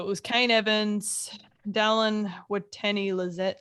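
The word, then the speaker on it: Watene-Zelezniak: So it was Kane Evans, Dallin Watene-Lezniak. How do you say his name? Watene Zelezniak.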